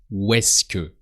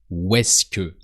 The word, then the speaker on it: où est-ce que: And as they sound really close, that sounds où est-ce que. So as if you wrote it with a W, où est-ce que.